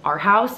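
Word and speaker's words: Arhaus: don't know if you're familiar with the brand our house it's spelled a-r-h-a-u-s and I got some glasses a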